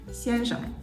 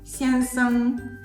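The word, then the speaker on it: 先生: For example, in mainland China, this word would commonly be pronounced 先生, 先生, with a neutral tone for the second character, 生. However, in Taiwan, it's usually pronounced 先生, 先生.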